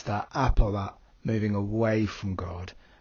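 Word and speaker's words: ἀπό: And by the way, do remember that we pronounce the omicron with a hard O at the end of apo.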